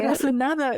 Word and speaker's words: corazonada: how we can show up in community and learn together and um this corazon nada, is that how you say it? Corazon nada, yeah.